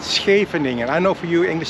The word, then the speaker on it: Scheveningen: Scheveningen. I know for you English speaking people it is a pain in the butt to pronounce Scheveningen, but it's easy, Scheveningen.